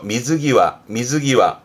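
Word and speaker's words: 水際: 발음은 그렇죠. 미즈기와.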